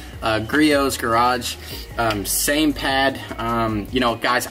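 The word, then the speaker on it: Griot's Garage: I asked you tell just use the griot garage right here crios whatever the heck you pronounce it I got corrected krios garage same pad you know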